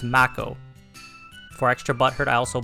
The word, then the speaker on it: Mako: and Aries was bad everyone's been pronouncing Mako wrong posting this because I've been watching a bunch of videos and no one's pronouncing it right I blame the shark it's Mac o for extra butthurt I